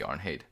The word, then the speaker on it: Arnheid: Arnheid. Yeah. I've never heard that name. Me neither. Arnheid. I haven't either, but just based on the way I feel like Nordic pronunciation should work, it should be Arnheid.